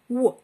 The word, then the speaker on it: what: Щоб його правильно вимовити, на перший звук ми повинні скласти губи в трубочку. What.